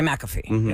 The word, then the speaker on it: McAfee: you say McAfee or do you say maffy mcafe McAfee you say McAfee that's how it's pronounced that's how the guy's